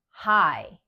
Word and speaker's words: high: And other times, the G and H are both silent, like in high.